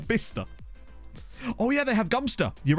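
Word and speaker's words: Godmanchester: far as I'm aware God Manchester is gumpster I I think it's not that near me but I I am aware of it it's existence I'm fairly certain it was it's gumpster and now you're all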